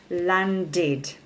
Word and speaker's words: landed: So in the past simple tense, it's pronounced landed. Okay, landed. So the end sound is id.